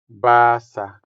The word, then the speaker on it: basa: The last word here, to read, translates as basa into Hiligaynon. Basa. Basa. The stress is also on the first syllable, making the first a sound longer than the second a.